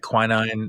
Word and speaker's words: quinine: and they pronounce it's Americans might say it quinine or something like that, but the Irish will say quinine. Like I think wherever you live, it's going to be different.